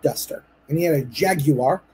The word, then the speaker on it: Jaguar: and he had a Jaguar it's a three syllable word for those of you that say it wrong by the way jag you up he had a Jaguar